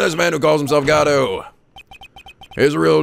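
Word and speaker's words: Godot: Where's the T come from? I just add in there a silent T just to fuck with people.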